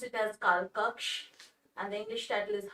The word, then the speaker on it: Kalkokkho: for being present over here in hindi we pronounced it as kalkaks and the english title is house of time